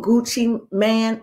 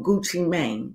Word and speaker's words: Gucci Mane: So I was asked to read on Gucci Man or Gucci Mane. What's his name? I thought it was Gucci Mane, but I hear people pronounce it Gucci Man.